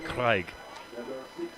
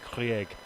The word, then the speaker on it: Krieg: Moran Craig. Or I will stand corrected, as the announcer has just said Krieg. And I will trust his genuine Swiss pronunciation.